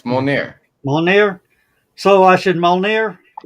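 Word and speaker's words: Mjölnir: So, Skunk, Molginor. Yeah. Molnir. You pronounced that wrong. It's Molnir.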